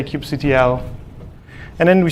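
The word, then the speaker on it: kubectl: to record cube CTL which everyone pronounced with a different name keep cattle queue control I say cube CTL and then we say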